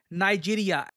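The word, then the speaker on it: Niger: इस अवार्ड का नाम है grand commander of the order of द नाइजर। जी हाँ, यहाँ पे जो प्रोनाउंसिएशन है ध्यान रखिएगा, grand commander of the order of द नाइजर।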